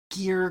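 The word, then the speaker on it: Gere: out what's going on it's Richard gear Gear Greer it's one of those names I cannot say without saying it wrong it's g r e gear so the movie like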